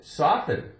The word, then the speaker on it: soften: We never say soften, soften, we don't. But if there's no en on the end, we're going to say soft. We make that T sound, soft.